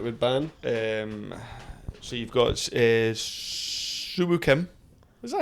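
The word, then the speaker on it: Si Woo Kim: So you've got Suwoo Kim.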